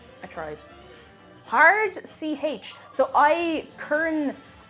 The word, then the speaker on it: Eichhörnchen: Eichhörnchen. I tried. Hard CH. So Eichhörnchen. I tried. Acha.